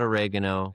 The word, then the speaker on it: Basil: I The way I was saying your name, I said it right, Basil, right?